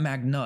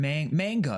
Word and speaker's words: manga: it is Magna Magna no it's not Magna it's m manga manga manga no manga that's how you say it right pretty sure that's